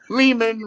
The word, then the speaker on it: Lehman: man he goes ari is it lee man lehman rhymes with a demon so anyway justin is